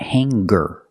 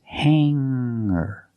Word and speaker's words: hanger: Remember hanger does not have a hard g sound. It's not hangar. It's hanger. Make the sound in your nose and then hanger.